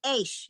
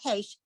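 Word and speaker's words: אִישׁ: Just Aish, not Heish, Aish.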